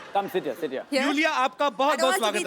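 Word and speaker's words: Iulia: यू यू yes pronounce यूलिया। यूलिया एंड the spellings are आई यू एल आई ए। सो आई I think you know. I mean why I. Everyone is calling me लूलिया। Loya.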